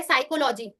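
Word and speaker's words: psychology: तो पी का उच्चारण नहीं होता। जैसे कि यहां पर एक लिखा है साइकोलॉजी निमोनिया रिसीट टेरोडक्टाइल।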